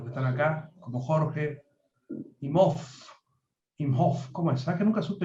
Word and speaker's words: Imhof: En realidad es Imhoff, pero lo castellanicé desde la primaria, ¿viste? Así que ya es Imhoff.